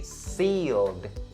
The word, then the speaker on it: sealed: This word has the long E sound as opposed to the short E sound in the word lips. So you say seal, seal. And the old sound at the end is a voice consonant. That's what the ED part is also supposed to be a D sound or a voice consonant as well. So you say sealed, sealed, sealed.